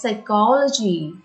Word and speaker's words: psychology: it is pronounced as psychology here though the first letter is p this p is silent it is pronounced as